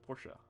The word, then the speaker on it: Porsche: call it porsche don't call it porsche it's porsche correct enunciation or pronunciation is porsche my favorite mercedes is the